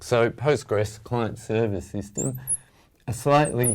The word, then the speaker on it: Postgres: database management system so the ql is silent we just call it postgres and it's and postgres